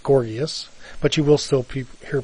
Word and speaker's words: Gorgias: I went all through college saying Gorgias, and then one of my professors pointed out to me that it's pronounced Gorgias, but you will still hear people say Gorgias from time to time.